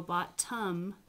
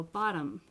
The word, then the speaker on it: bottom: do the same thing you don't go bot tum you actually go bottom and becomes its own